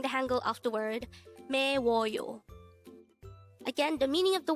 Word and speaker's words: 매워요: If you notice, the combination of the u and o character produced the wo sound.